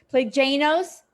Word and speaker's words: Plagainos: everyone it's great to me oh my god plague a nose yep perfect listen I grew up with my